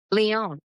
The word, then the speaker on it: Lyon: And you also had experience of living abroad in, how do you pronounce it? Is it Lyon, France? Lyon, yes, in Lyon.